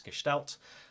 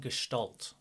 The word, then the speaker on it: Gestalt: we're exploring today and as you say it's gestal we have to make sure we say it right I was saying Gestalt for a long time I hear a lot of people saying gal but it's a German word and I had someone